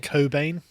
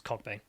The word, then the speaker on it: Cockbane: she's messaging o2 saying i think it's pronounced cobain no i'm joking it's cockbane like it looks like it's